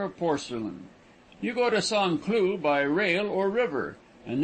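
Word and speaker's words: Saint-Cloud: a small village just outside of saint cloud pronounced sanclue it is given up to the manufacturer of porcelain you go to song clue by rail or river and then drive over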